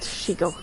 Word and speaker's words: Shego: I mean it but yeah I mean that is the way that it's spelled but um it is it is pronounced shigo.